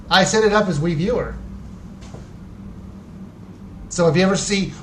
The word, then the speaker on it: Wiiviewer: It is WIIVIEWER. That's it. It's pronounced Wiiviewer.